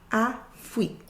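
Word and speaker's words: Afrik: So that A sound we have in Africa, we would say Afrique. Afrique. Afrique. Afrique for Africa. So that letter A has an A sound.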